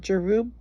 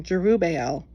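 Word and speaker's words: Jerubbaal: And he went unto his father's house at Ofra, and slew his brethren, the sons of Jerubu, Jerub, excuse me, I was pronouncing that wrong. Jerubel, being three score and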